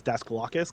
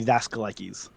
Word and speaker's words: Daskalakis: The way I was taught is that the American pronunciation is Daskalakis, kind of like you said. Hmm. But if you want to go more traditional, more authentic, it'd be Daskalakis.